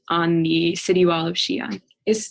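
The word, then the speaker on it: Xi'an: was riding bikes on the city wall of Shion is Shion the one that says x i a an yeah sorry x i a an and it's pronounced Shion cool all right so I'm going to start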